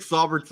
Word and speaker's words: Saubert: How do you pronounce Eric Saubert's name?